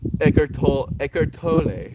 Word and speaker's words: Eckhart Tolle: Eckhart Tolle apparently is the right way to say it. Like I would like to say it Eckhart Tolle, because it just feels like it's easier. It like flows off the tongue a little bit easier.